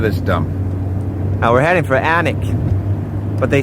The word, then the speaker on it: Alnwick: We're heading for Alnwick, but they spell it A-L-N-W-I-C-K.